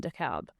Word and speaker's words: DeKalb: We pronounce the L in DeKalb.